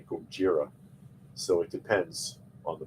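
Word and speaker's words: Gojira: uh pronunciation too because you know godzilla is actually kojira so it depends on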